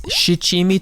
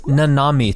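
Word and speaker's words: 七: In the West, you'll often find seven-spice “Shichimi Togarashi” labeled as “Nanami Tograrashi”.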